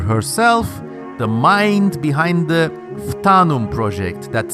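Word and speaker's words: Phtanum: talented World Builder herself the Mind behind the fanum project that's spelled p h t a n u m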